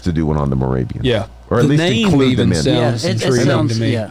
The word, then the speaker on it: Moravia: i a okay and well Moravia is in uh sounds like Scandinavia Moravia is in bro